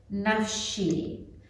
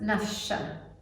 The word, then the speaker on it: Nafshi: Nafshi. And it can be pronounced Nafsha.